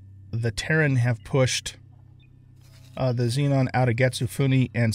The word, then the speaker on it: Xenon: Xenon. I think I'm actually supposed to pronounce it Xenon, but I'm so used to calling them Xenon that I might just keep doing that just because I'm old.